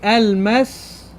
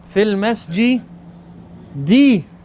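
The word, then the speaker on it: في المسجدِ: Normally I say al-masjidu. Al-masjidu. That's what I normally say. Correct? But now fi is in here. I can no longer have this fatha there or this dhamma there. Fil masjidi.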